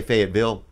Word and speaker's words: Fayetteville: Fayetteville? How do you say it? Fayetteville? Or Fayette? You could say Fayetteville.